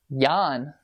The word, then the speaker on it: Jan: CH my bam problem solved hello it's pronounced how Yan uh no I didn't run that video yet